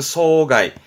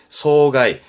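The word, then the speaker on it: 霜害: 상해라고 해서 발음은 소가이, 소가이. 말하자면 서리 피해, 피해 해자니까요. 서리 피해를 상해, 소가이, 소가이.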